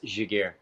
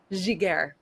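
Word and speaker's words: Giguère: team, I tried to look up the guy's pronunciation, so here we go. I'm going to give it a Giguere. Say it again. J.S. Giguere. Giguere.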